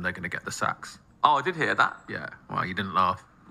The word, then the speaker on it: Saxx: He takes out of his pocket a pair of Pax boxes. Saxx boxes, sorry. Get the name wrong.